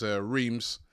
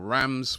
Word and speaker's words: Reims: It was Marseille versus Reims, or Rams, whichever way you want to pronounce it, and Marseille winning the game by 4-1.